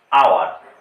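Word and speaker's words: hour: যেমন এইচ ও ইউ আর আবার ও ইউ আর দুটোর উচ্চারণ কিন্তু আওয়ার।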